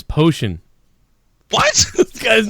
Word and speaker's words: Phocian: How do you pronounce that? His name is Potion.